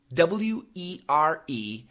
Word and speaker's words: were: My question would be, what is the difference between the words W-E-R-E and W-H-E-R-E? And he means pronunciation. Yes, Adrian, great question. W-E-R-E, the American pronunciation, were. W-H-E-R-E, the American pronunciation, where.